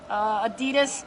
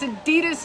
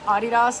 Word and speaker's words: Adidas: Adidas, actually pronounced Adidas. Don't hate me for saying it properly. But it's Adidas. No, it's Adidas if you're like American, but it's Adidas if you say it right.